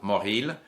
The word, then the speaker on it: Mauril: on behalf of francophones in ontario uh m-a-u-r-i-l mohil by the way uh words and friends that